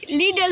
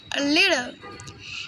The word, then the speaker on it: little: টিটা হয়ে যাবে ডি এর মতো, কিন্তু পুরা ডি এর উচ্চারণ আসবে লিডল হয়ে যাবে যদি আমরা পুরা ডি এর উচ্চারণ আনি। অল্প করে আনলাম লিটল।